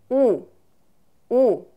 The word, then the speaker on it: ㅜ: пройдем а купленные буквы это буква называется у-у-у вот точно также как русская гласная о произносится у-у-у-у и это буква образована